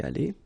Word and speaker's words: allée: Phonetically, you don't hear it. It goes like aller, so exactly the same thing as here, or the same way. So, elle a été allée.